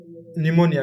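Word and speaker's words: pneumonia: बहुत इच्छा देख बाद लास्ट तो यस सर निमोनिया कौन लिखा ऑफ निमोनिया पी लिखा पेनोमिया निमोनिया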